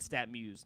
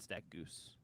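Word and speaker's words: StatMuse: the year and Brady he said stat Muse not stack Goose I believe do you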